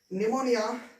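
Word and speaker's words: pneumonia: ठीक है, निमोनिया, psychology, psychiatrist. ठीक है, ये होते हैं जहां पर हमारा पी जो है वो साइलेंट हो जाता है।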